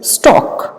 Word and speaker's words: stalk: Next is स्टॉक. S-T-A-L-K. We pronounce this word as स्टॉक.